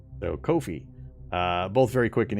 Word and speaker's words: Ko-fi: Kofi Kofi noi Kofi yes Kofi it rhymes with no Fe so Kofi uh both very quick